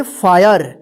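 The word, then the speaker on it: fire: यदि यहां पर देखिए एफ आई आर ई इसको क्या पढ़ेंगे फायर देखिए आई के बाद आर ई है तब यहां पे आय उच्चारण हुआ है ठीक है ना अगर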